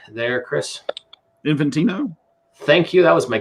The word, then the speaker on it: Infantino: Infantino?